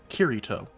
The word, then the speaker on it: Kirito: I feel like I pronounce his name weird. Kirito.